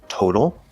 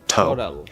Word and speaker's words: total: the word total, that first syllable is stressed, so we have a nice strong T, Total. But then in the middle, we have the letter T at the start of an unstressed syllable, so it's going to be a flapped D sound, total.